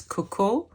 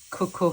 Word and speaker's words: Koko: And it's all about this romantic country that which name is Koko. I choose to pronounce it in a little bit of a French way.